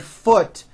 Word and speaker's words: foot: okay but the word foot is also spelled with a double o but it is pronounced with a lower vowel sound foot food foot food